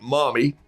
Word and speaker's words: Lamy: from down in veracruz he says it's pronounced like mommy it's l-a-m-y these are